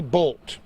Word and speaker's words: Boldt: the century George see bolt that's spelled bol DT millionaire proprietor of the